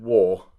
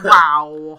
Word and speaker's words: WAW: He was the one who came to me and said that I pronounced WAW incorrectly and said war. Yeah, which doesn't even make sense, seeing as it's WAW. It should be like wow.